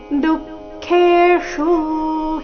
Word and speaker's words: ದುಃಖೇಷು: ಇದೆ ಶೀತೋಷ್ಣ ಸುಖ ದುಃಖೆ ಚರಣದ ಕೊನೆಗೆ ಬಂದಿರುವ ಶು ರಸ್ವ ಬರಬೇಕು ದುಃಖೇಶು ಈ ರೀತಿ ದುಃಖೇಷು ಹೀಗೆ ಅದನ್ನ ದೀರ್ಘ ಮಾಡಬಾರದು ತಥಾ ಮಾನಾಪಮಾನಯೋಹೋ ತಥಾ ಥ